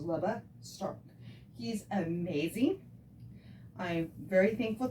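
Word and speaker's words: Lebe Stark: His name is Leba Stark. It's spelled it's spelled L-E-B-E. His last name is S-T-A-R-K, just like it sounds. So it's Leba Stark.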